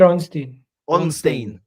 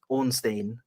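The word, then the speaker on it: Ornstein: out even yes David onstein Onin I know always he added an extra syllable I thought my I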